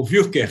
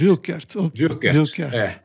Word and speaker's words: Wuerkert: Mas a pronúncia é alguma coisa parecida com Wilkert. Wilkert.